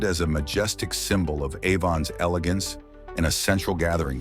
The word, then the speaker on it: Avon: Pro tip, it's avon with a gentle nod to the first syllable.